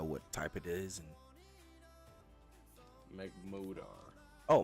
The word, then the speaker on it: Magmortar: And Magmortar. Oh, Magmortar. I pronounce it that.